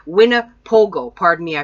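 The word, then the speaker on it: Winnipogo: F heard and a Winnebago Americas as well we're not talking about RVs this is not the RV well it sounds like the Winnebago RV and but it's called wina Pogo pardon me I pronounced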